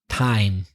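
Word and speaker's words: thyme: Rock I'm talking about th why m e time the herb which is familiar to me you th ym E is pronounced time so there are a few th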